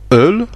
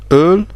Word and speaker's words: Öl: Le O, il se prononce O, avec les 2 points, ça se prononce E, comme le E français, comme dans le mot öl, qui veut dire huile, ou comme ça on voit l'origine germanique avec oil, donc öl, voilà, c'est öl.